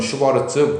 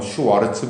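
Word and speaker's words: Schwarz: 이게 콧이 슈바르츠의 부등식인데 독일식 발음은 슈바르츠 미국식 영어 발음은 슈와르츠 부등식인데 이제는 잘 나오지는 않지만 하나를 지금 정리를 해 놓은 거예요.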